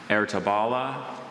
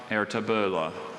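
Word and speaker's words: Ertebolle: Ertabala, Ertabala, Ertabula. Wait, just repeat all the pronunciations one more time.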